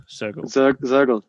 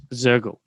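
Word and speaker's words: Soergel: So you've worked with some really interesting people, Ben Elias, I think Wolfgang Sergel, is that how you pronounce his name? Mm-hmm. Sergel or Shergel? Sergel. Zergel.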